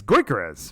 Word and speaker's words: Gyökeres: Eze, and then the guy whose name I can never remember how to pronounce because I know it is Gyökeres, right?